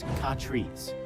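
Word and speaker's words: Catrice: Katrice, pronounced Katrice.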